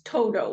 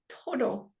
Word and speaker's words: Toto: to say that in in English it's Toto like it's hard but in espanol it's Toto it's like to like you you almost use the back of your tongue behind your teeth to yeah yeah yeah